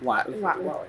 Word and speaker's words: Watley: So, Watley. Am I saying it right? Watley. Mm-hmm. You did it right.